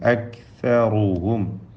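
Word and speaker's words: أكثرهم: അക്സറുഹും calf മഹ്മൂസും ഷദീദുമായ അക്ഷരമാണ്. അക് അക് എന്ന് അതിൻ്റെ സുക്കൂൻ വ്യക്തമാക്കി ഉച്ചരിക്കുക. അക്സറുഹും.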